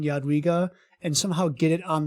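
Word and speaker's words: Jadwiga: I feel like I should make a 2-second video of just you saying Yadwiga and somehow get it on the Pathfinder wiki as like the official pronunciation video. Yadwiga.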